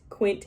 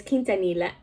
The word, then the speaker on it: Quintanilla: and i i put i pronounced it as quint quint i was like oh god why like this is why i need to do better but it's quintanilla i think it's quintanilla quintanilla correct me if i'm